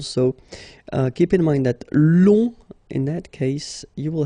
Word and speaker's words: long: So keep in mind that long, in that case, you will have to add this U and then E. Okay, so long, remember you don't pronounce the final G, will become longue.